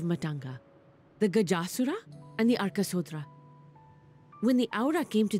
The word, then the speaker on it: Arkasodra: Okay, so they pronounce it the Arkasodra. Like that A almost seems invisible. So it's not Arkasodara, it's Arkasodra? Arkasodra? Like that? Like it's very quick, I think.